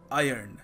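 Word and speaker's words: iron: आपकी प्रोनंसिएशन से तो याद रखिएगा इस इज आयर्न नॉट आयरन अगला शब्द है कैल्शियम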